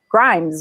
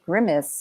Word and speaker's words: Grimes: Grimes, right? I don't want to say it wrong. It was no, you said it perfectly. What if it was Grimace or something?